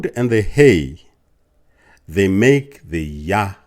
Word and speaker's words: Yah: u a h so the yod and the he which makes a y sound and an H sound will be yah the same as in